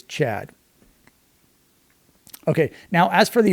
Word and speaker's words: tCHADt: It's tCHADt. But the T's are silent, so you just pronounce it as Chad.